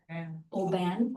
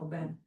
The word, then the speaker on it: Aubin: I think the French way to say it is Saint Aubin. I think it's AU is actually pronounced O. Aubin. Aubin. Yeah, Aubin with not even much of an articulation of the N at the end.